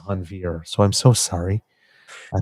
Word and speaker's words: Hanveer: I think I said Hanover the first time rather than Hanveer, so I'm so sorry.